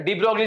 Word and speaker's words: de Broglie: The de Broglie is the incorrect pronunciation.